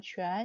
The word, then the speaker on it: 全: 네, 발음 주의하시고요. 좌이 아니고 全 이렇게 발음하죠.